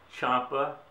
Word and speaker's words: Ciampa: okay my name is george chapa c-i-a-m-p-a and uh it's pronounced like c-h-a-n-p-a uh it's italian my parents uh were